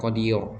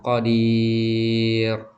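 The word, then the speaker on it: قدير: Jadi bukan qadiur, bukan qodir bukan gitu. Tapi tapi tipis aja. Jadi qadir. Oke, kita ulangi lagi. Qadir. Jadi, rnya itu tipis ya, bukan ro yang tebal.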